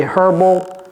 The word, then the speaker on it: herbal: les choses naturelles herb prononcer le H ok ne dites pas herbal c'est herbal supplements je vais ajouter même